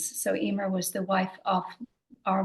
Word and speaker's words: Eimear: So yes, I'm very proud to have the name Emer.